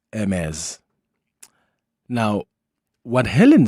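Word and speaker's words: Hermès: And I hope I'm pronouncing back in correct because initially I thought is it James? Is it Hermes? But I'm told it's MS.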